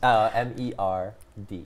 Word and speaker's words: merde: How do you spell it? Oh, which M E R D E merd.